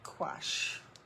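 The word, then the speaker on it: gouache: g u CH H I always keep C go but it's actually quash so it's a type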